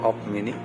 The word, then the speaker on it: UP mini: company made by the up mini yeah you can pronounce it as an op mini and it is very